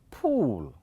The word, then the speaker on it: pool: How do you pronounce this? This is pull, but the other one is pool.